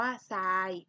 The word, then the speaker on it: ทราย: เด็ก เห็น ไหม คะ ทร ออก เสียง เป็น ซอโซ่ ตัว อย่าง ต่อ มา